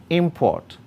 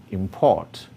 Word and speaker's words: import: Import, verb, import.